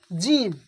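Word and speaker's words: جيم: জিবের মাঝখান এবং তার বরাবর উপরের তালু, উপরের তালু, জিবের মাঝখান এবং তার বরাবর উপরের তালুর সাথে লাগিয়ে উচ্চারণ হয় জিম, শিন, ইয়া। জিম, একটু চেপে, জিম, শিন, ইয়া, জিম, শিন, ইয়া।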